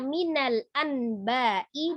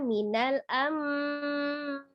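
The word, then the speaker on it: مِنَ الْأَنْبَاءِ: Tulisannya minal anba'i dibaca minal amba'i.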